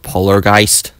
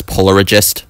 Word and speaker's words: Polargeist: to move on to polargeist I remember pronouncing this as Polar regist because I was just so good at pronouncing things back thing go go